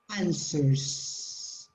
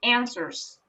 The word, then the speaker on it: answers: think carefully about their answers answers answers yeah w is not pronounced okay answers answers carefully